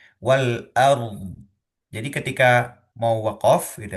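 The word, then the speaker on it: والأرض: samawati wal ard ya, maka ro sukun itu perlu diucapkan terlebih dahulu baru setelah ro sukunnya sudah sempurna baru kita mengucapkan dod yang sukunnya gitu ya.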